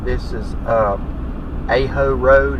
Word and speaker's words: Aho: Now, a little interesting thing here to the right, this is Aho Road. It's A-H-O is how it's pronounced.